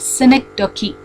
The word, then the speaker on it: synecdoche: So that also you underline and you write synecdoche. Synecdoche. I'll spell it.